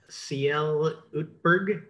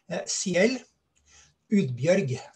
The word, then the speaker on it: Ciel Udbjørg: this interview today with cl utberg and um could you pronounce your name correctly ciel urge okay that's uh that's much less american sounding than uh than the way i pronounced it so um so we